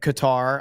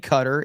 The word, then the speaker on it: Qatar: Uh this is in Qatar. I'm not saying cutter. If you want me to say cutter, spell it cutter.